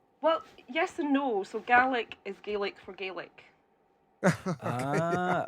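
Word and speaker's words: Gàidhlig: So yeah, mo most Gaic speakers would say Gaic and most English speakers would probably say Gaelic unless I come at them with my wrath and say G.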